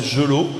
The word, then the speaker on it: Gelot: Apparemment, il faut prononcer Gelot.